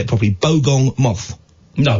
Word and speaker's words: bogong: Have you ever heard of the I'll say it properly, bogong moth?